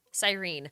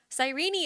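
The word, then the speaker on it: Cyrene: does not sound nice I'm not going to call her sirene I'm gonna call her sirene I will not pronounce that last e can't make me H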